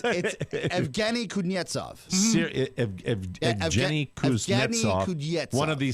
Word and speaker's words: Evgeny Kuznetsov: Evgeny Kuznetsov. You got it. There you go. You're such non-sports guys. No, we actually did a pronouncer before the show. It's Evgeny Kuznetsov.